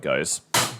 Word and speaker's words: Gose: already how cold it goes goes shame on me is it goes goes up does it matter so it was g-o-s-u-h was the pronunciation that's right like a